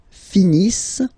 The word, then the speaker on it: finissent: Ils finissent. So remember, as usual, when we've got the verbs E and T not pronounced.